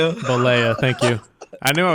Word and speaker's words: Bollea: I look at it and I want to say it the like Spanish way, but I know it's not that way.